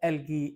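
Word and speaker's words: algae: stimulate the growth ऑफ एल्गी। एल्गी भी कहते हैं, एलजी भी कहते हैं, एल्गाई भी कहते हैं, इसके डिफरेंट प्रोनाउंसिएशन है।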